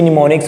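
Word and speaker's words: mnemonics: निमोनिक्स कहते हैं। Pronunciation इसकी निमोनिक्स होगी क्योंकि एम जो है वो साइलेंट है।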